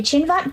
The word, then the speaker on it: Cinvat: the what what the synvet bridge is uh yeah it well it it's spelled a little bit differently but the chinvak bridge uh is from zoroastrianism